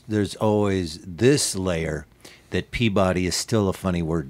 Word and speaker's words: Peabody: Like a suburb of Boston, and it's pronounced Peabody.